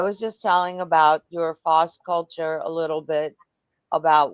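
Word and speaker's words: FOS Kulture: It's Foss, FOS Culture, KULTURE. Is that right?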